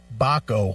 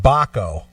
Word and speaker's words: Baco: back oh ho don't Baco Baco like Paco with a bee right okay Paco yeah